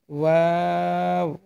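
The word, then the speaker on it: واو: এই যে এই হরফটি হবে ওয়াও, 2 ঠোঁট গোল করে উচ্চারণ করবেন, ওয়াও, ওয়াও।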